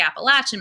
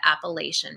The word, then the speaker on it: Appalachian: Now, I'm from North Carolina, so we pronounce it the Appalachian Mountains. From people from out of state, it may also be referred to as the Appalachian Mountains. So both pronunciations are fine.